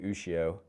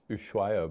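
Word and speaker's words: Ushuaia: I always said Ushio. And some reef aquarium nerds like, it's pronounced Ushuayo, bro.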